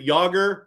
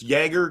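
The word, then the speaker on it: Jagr: Didn't he call is it Yager? Instead of Yager, it's Jaeger to him, or like all these names.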